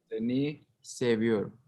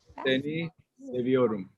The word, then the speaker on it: Seni seviyorum: Seni Seni seviyorum. Seviyorum. It means I love you. Oh. Seni seviyorum.